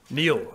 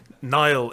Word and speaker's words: Niall: my name is is pronounced Neil and you got it right the second time Nile is a river in